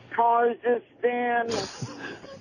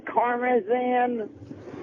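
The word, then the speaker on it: Karmazin: Kazakhstan. Kazakhstan. I know I said it wrong. I mean Karmazan.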